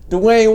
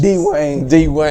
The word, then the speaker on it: Dwyane: D-Wayne. He spells his name the weirdest. Dwayne. I always pronounce it Dwayne.